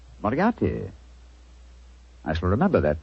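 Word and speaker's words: Moriarty: Mariati. Moriati.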